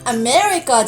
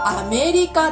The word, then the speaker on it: アメリカ: したが、日本語の発音はアメリカじゃなくてアメリカですよ。